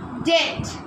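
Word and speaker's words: debt: আই এমবি R climber অর্থাৎ পর্বতারহী পর্বতারণী তারপর ডেট ডি ই বিটি ডেট অর্থাৎ ঋ এন ইউ এম বি নাক সাইলেন্ট বি না আসার আসার তারপর বম বম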